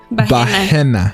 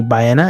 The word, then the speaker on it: Bahena: Bahena. Bahena. I used to hate it because when I was little, people used to call me Baena, and like Baena in Spanish, for people that don't know, is male.